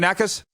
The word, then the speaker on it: Nakas: today from toronto the t-dot how you doing knackers i'm good rod yourself good am i saying